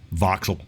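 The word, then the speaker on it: Vauxhall: Romeo Lan Citron DS automobiles PUO opal and voxul or voxel right voxel yeah voxel yeah just a bunch of automobiles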